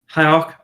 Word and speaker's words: Hierarch: So now what's interesting is that if Julien starts to want to aggro with the Luxon Hierarch, or how do you say that? Hierarch.